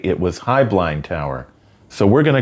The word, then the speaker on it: Heublein: Some of the company's later advertising used the pronunciation Hublind, but my mother used to always say it was Highblind Tower.